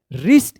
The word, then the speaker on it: wrist: WRIST क्या पढ़ेंगे? रिस्ट, इसमें भी R से पहले W है।